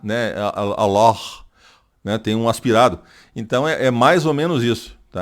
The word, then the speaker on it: Allah: Então, Alá é uma coisa, Allah já é outra. Allah, né? Esse Allah, o L fica, esse 2L fica mais tempo, né? Pronunciado e é mais Allah, né? Allah, certo? Então, aí a pronúncia muda, porque seria Alá, seria um L só. Allah, 2 L's.